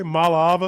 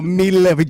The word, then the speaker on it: Iamaleava: Malaava? Oh, Iamaleava.